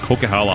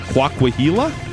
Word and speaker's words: Coquihalla: We were driving through the area, and they're like, "Oh, we're going on the Coquihilla." That's not how you pronounce it. That's not it. The Coquihilla is not how you pronounce that word.